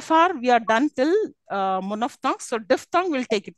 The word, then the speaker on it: monophthong: How should we pronounce it? Let me tell you. It's monophthong.